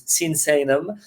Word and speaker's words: Sinsaenum: People having trouble to pronounce correctly, so it's Sinsaenum.